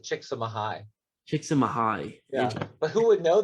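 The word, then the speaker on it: Csikszentmihalyi: name's season mihai so he's actually pronounced it chicks chicks in mahai yeah but who would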